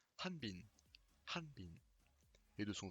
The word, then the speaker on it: 한빈: anne minh hanh pile alors anne bean est acceptable mais si vous voulez vraiment être exact et bien prononcé bien le hb suffit d'aspirer un comme un âge un petit peu anglais spex de même été très proches anne binh thanh binh